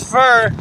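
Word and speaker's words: Furr: It's funny because her last name is Fur, spelled like F-U-R-R.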